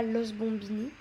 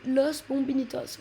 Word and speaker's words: Los Bombinitos: Donc en gros, c'est pas Los Bombinis et c'est pas Les Bombinis. C'est Los Bombinitos. Voilà comment on dit avec la bonne prononciation.